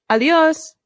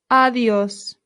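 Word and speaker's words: adiós: A good way to say goodbye in Spanish is a simple adios. Adios. Adios. Excellent. Adios. Notice the accent. This is where our stress is.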